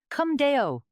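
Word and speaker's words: cum Deo: It's pronounced kdeo. That's right. Come deo.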